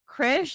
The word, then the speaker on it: Krish: name to say exactly it's like chish like kri and then sh like it's not that